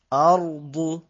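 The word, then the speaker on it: أرض: শক্ত হবে জুল জিলাতিল আরদু আরদু হামজা র জবর আর র শব্দটা হবে একটু মোটা শব্দ আমি এখানে পুরো সবগুলো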